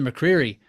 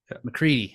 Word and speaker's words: McCready: Hawk call fifth Samuel A Bear six Tyler McCreery how about that McCready I always say it wrong Tyler McCready seventh